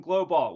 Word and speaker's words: GLOBALT: It's just because I can pronounce the word alt. Alt. Like halt. Thomas Martin from GLOBALT with us.